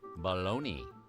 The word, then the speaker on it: bologna: So why do we call this sweetmeat baloney.